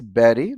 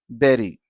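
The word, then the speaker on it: bury: In spite of the letter u here, it is still pronounced berry, as if it has e.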